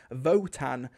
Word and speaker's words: Wotan: Now, it's spelt Wotan, as in W-O-T-A-N, and it's meant to be based off the god Odin, who was also called Wotan, but I'm certain I hear everyone in the story pronounce it Votan, like with a V, so I'm just gonna stick with that.